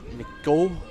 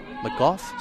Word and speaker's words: McGough: her own players that's orla mcgowan mcgough sorry my pronunciation of that one a little bit off canter but it's kitty holly